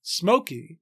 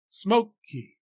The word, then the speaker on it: Smokey: say a stressed syllable in the word Smokey for example English speakers place a heavier weight or stress on the first syllable smoke then on the second e smoke key we don't say Smokey